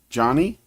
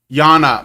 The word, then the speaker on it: Yana: And it's pronounced Johnny? Yana, sorry. I have a...